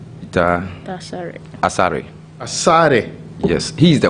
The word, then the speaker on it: Asare: Peter Asire. Peter Asare.